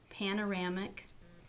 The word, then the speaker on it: panoramic: a minute to ink panoramic has four syllables and the third syllable carries the stress think about how many